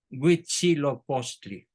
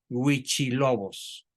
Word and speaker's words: Huitzilopochtli: historia de la humanidad, Huitzilopochtli, a quien los españoles denominaron con el nombre de Huichilobos, por no pronunciar bien la palabra Huitzilopochtli.